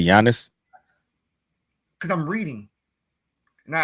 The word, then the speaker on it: Giannis: His name is Giannis. The K is silent, but you don't say knife. It's Greek. That's how you say the G and the I in the Greek.